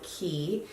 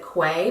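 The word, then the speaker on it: Quay: the Heike sunglasses by ki and I know a lot of people will pronounce it Kwai but it's actually an Australian company it is pronounced ki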